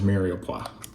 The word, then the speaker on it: mirepoix: carrot, and onion mixture, which is known as mirepoix.